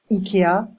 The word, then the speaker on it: Ikea: Ikea, we say Ikea. Be careful with the I. It's E in French.